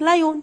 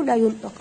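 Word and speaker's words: lion: اكيد طبعا زي ما المعظم بيقول لك لايون، صح ولا لايون؟ لا، النطق غلط. انا عندي في الانجليش لما اشوف حرف الاو ورا حرف الان، حرف الاو سايلنت، الاو لا ينطق، او زي ما اقول لك كده كل وانت ماشي. تمام، انا بتكلم بالعاميه شويه، فانا باخد حرف الاي على ان على طول كده مفيش النطق هنا، بقول ايه لاين لاين، سامعني؟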